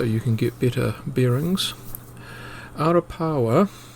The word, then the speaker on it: Arapawa: To stop any confusion and so you can get better bearings, Arapawa is spelt two ways, A-R-A-P-A-W-A and A-R-A-P-A-O-A, and as it happens both words are pronounced identically.